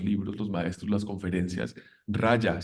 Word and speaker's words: Raja: los maestros las conferencias raya se escribe con j raja raja yoga es muy interesante